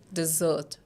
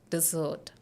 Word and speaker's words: dessert: it is dessert dessert see the Sounds here d s see even the sounds s and z are different this is s sound but this is z sound so here is an